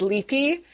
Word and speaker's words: Lupe: the character's name it's it looks like it's Lupe but it's actually pronounced leapy the little crazy maniacal